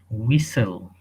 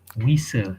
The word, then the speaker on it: whistle: This is one of the phonetics rules that if W and H is there, most of the cases H is silent.